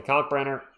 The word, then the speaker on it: Kalkbrenner: Gets it all to Kalkbrenner. I'm trying to say his name, emphasizing the K on Kalk.